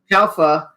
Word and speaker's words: Calfa: How do you pronounce his last name? Calfa? Calfa.